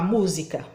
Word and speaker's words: música: da música bati Palma música Então qual que ficou Comprido aí na hora de eu chamar que sílaba que ficou comprida então o mu e eu sei que é a mais forte porque ela tem assento vamos praticar número um